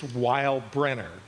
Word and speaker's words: Weilbrenner: It's Weinbrenner. And I've had to spell it and pronounce it my entire life. Okay. I'm Weinbrenner.